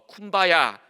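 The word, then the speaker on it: Kumbaya: 이제 주님 여기 오소서라는 컴바이 my 로드라는이 이야기가 어 쿠바야 컴바이 히를 쿠바야 아고 듣고 이렇게 발음을 했다라고 합니다 그래서이 쿠바야 아는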